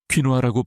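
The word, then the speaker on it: 퀴노아: 현대적인 부활을 맞이하고 있는 고대공물인 퀸아부터 시작해 봅시다. 퀴누아라고 발음하는이 작지만 강력한 씨앗은 영향의 보고이며 혈당을 안정시키는데 큰 역할을 할 수 있습니다.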